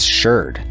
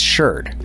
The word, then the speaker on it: sherd: Now, before you archaeologists across the pond start jumping into my comments section, I know it's pronounced shard in other places, but in American archaeology, it's sherd.